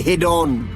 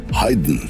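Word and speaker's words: Haydn: হাইডন, মজাদ, বেটফেন। এই হল আসল উচ্চারণ।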